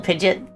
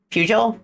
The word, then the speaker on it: Peugeot: Diesel Pidgeot. Peugeot is how you pronounce it.